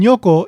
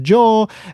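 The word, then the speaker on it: 如: In this case, it's pronounced nyo, but it can also be pronounced jo and goto ku or goto shi.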